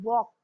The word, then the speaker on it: walk: यहाँ पहला देखिए WALK वॉक। अब यहाँ पे भी देखिए वॉक में हम L को साइलेंट रख रहे हैं, which is the silent word letter L।